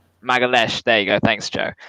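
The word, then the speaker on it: Magalhães: I think I've pronounced that right or wrong. Magalhaes, there you go.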